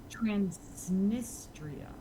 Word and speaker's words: Transnistria: Transnistria. Okay, I pronounced it wrong.